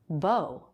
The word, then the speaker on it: bow: Bow. There's another word spelled the same way but pronounced bow with the ow diphthong.